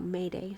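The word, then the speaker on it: m'aider: after sos comes oh mayday sorry the term mayday used for signaling for help after sos comes from the french something which is pronounced may day which means help me okay so mayday means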